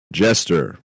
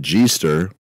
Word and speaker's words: Jester: Jester. It's not G-ster. Jester. G-ster. Yeah, you don't say G-ster because that's retarded. It's spelled J-E-S-T-E-R. Jester.